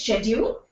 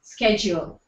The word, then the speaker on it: schedule: centers they writing okay the fourth word is schedule or schedule it's UK it's schedule us it's schedule so with I think